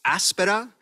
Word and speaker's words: Aspera: here today I'll be talking to you about Aspera um which is frequently mispronounced the emphasis is on the first day